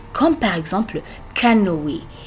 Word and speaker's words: canoë: Mais aussi, il y a des fois là où vous allez le prononcer comme si c'est E avec l'accent aigu, comme par exemple canoë, canoë.